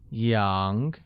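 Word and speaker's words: 羊: yo eat young where sheep becomes young and is pronounced with the mid rising tone I have five rabbits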